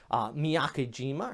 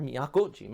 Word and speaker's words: Miyakojima: morning you also got miyakejima or miyakojima i should say back here towards the